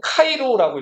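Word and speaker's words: Chi Rho: 근데이 x가 그리스로는 카이라고 읽어. 카이 뭐라고요? 카이. 그리고요 p는 로라고 했죠. 로. 그래서요 xp를 카이로라고 읽어요.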